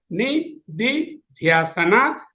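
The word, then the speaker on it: निदिध्यासन: It is pronounced as Nididhyasana, Nididhyasana.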